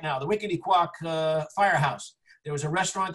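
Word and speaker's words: Wequetequock: And the, I don't know how to pronounce this. Wickety-quack. What is it? Wickety-quack.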